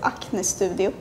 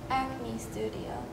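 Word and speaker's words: Acne Studios: would say an Studio I also noticed that the a sound as different we say it like a but you guys kind of say like a studio acne Studio acne Studio acne Studio acne Studio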